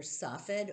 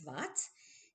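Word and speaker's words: צפת: of Palestine, which and into Sfat or Safed or Safat or however you want to pronounce it, but the Hebrew is Sfat, into that area in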